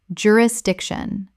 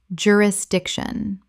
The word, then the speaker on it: jurisdiction: jurisdiction Common mispronunciation. jurisdiction Correct pronunciation. jurisdiction Four syllables with the stress on the third.